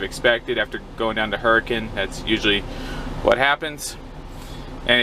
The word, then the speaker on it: Hurricane: It looks like Hurricane if you were to type it out on a map. H-U-R-R-I-C-A-N-E. But Utah's weird, it's pronounced Hurricane.